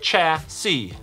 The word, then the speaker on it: chassis: First, you'll build your robot's chassis, pronounced cha-see.